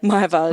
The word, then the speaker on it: Meiwald: Is that how you say it? Meiwald, Meiwald. Even though we call you.